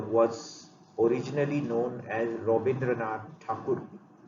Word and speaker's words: Thakur: Rabindranath Tagore was originally known as Rabindranath Thakur. The British people could not pronounce Thakur word properly, so they mispronounced Thakur as Tagore, and from those days it became Tagore.